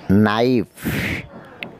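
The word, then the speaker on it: knife: নাইফ, এখানেও কের উচ্চারণ নেই।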